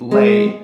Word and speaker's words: le: So you would go May, for example, or if you lower the la, you would get lay. L-E is lay.